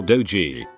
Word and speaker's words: dogie: real thing and that the phrase is actually get along Lil dogee and not doggy mispronounced as I'd always thought an acquaintance of mine